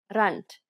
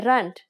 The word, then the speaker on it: rand: South African rand please pay attention to the pronunciation in Africans rant we say rant for General conversations the term Z is very